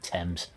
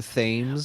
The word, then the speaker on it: Thames: out how pleased I am at your correct pronunciation of Thames. Thank you. You mean it would bother you if I were calling him Thames?